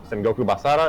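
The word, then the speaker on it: Sengoku Basara: Um, Senak Senoku Basara is how you pronounce it.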